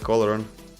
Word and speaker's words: Olorun: Oh, they made this horror skin look like olorun.